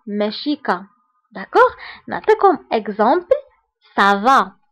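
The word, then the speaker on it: ça va: كا داكوغ نعطيكم اكزامبل سافا فاش كنقولوا سافا ما كنقولوش كافا مي كنقولوا سافا لان سي فيها لا سي دي سينو كون ما كانش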